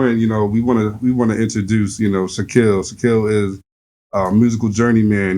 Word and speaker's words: Shakil: They always say Shakil like my last name or some shit. But it's Shakil. Shakil.